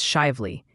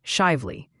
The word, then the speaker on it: Shively: And hey, while we're on Kentucky, after mastering a dare, your new pronunciation challenge is shively. It's shively.